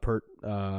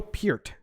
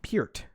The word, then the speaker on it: Peart: literally kept saying Neil Peart she kept pronouncing his last name peered well if you don't know how to pronounce his last name it's about PE AR t just hurt hurt but it's but she